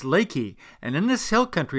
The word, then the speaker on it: Leakey: leaky somehow seem funny however leaky is actually pronounced Leakey and in this hill country has apparently been